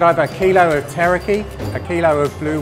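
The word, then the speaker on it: tarakihi: I think you'll find they're pronounced tarakee, blue warahau, and hoki.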